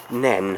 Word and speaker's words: Nene: I think it's just to the south of the River Nene. I think it's the River Nene. Spelt Nene with an E on the end, but pronounced Nen, I believe.